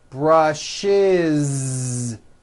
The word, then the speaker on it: brushes: He brushes. Brushes. It's a voiced ending.